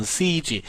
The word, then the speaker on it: siege: 자, siege라고 읽어요. 이게 포위작전입니다. 둘러싸는 거예요. 포위작전, siege.